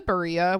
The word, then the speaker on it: Barilla: I think it's Barilla because it's Italian.